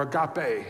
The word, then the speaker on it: agape: 13 is the word agape or agape however you want to pronounce it the old way is agape the way that our Greek friends over in Greece would say it would be a copy